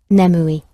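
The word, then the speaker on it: 眠い: every day would be the word for sleepy in japanese is nemoui and if you want a image to remember that i get sleepy but never moody so sleepy is is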